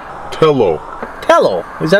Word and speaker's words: Tello: DJI Telly. Tello. Tello.